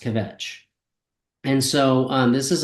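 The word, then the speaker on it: Kvetch: notes in the score it says that it's pronounced kavet and so um this is Aura SD's piece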